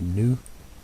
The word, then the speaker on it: GNU: Some people pronounce that with the G, and some people just say new. New. Pretty sure it's pronounced GNU.